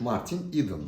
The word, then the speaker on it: Martin Eden: doğrusu bu Evet y Akademik olarak doğru okunuş Martin eden dır Martin edena Martin eden şeklinde okumak lazım yabancı isimlerin yabancı özel